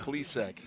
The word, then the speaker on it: Plisek: As I also want to say hello to my I should say Plisek. I got that. I mispronounced that name. Plisek.